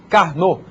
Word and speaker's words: Karnaugh: de carn esse nome esquisito aí a gente pronuncia carn carn era um era um estudioso matemático que